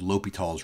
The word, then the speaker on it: L'Hôpital: um a function and that shortcut is called l'hopital's rule so you pronounce this l'hopital it's a he is a